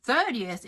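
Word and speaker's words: thirtieth: Queens in New York 30th and 13th sounds pretty similar if you don't put the accent on the right spot 30th has an accent on the first vowel third ER and 13th is on the second vowel teens e so when I tell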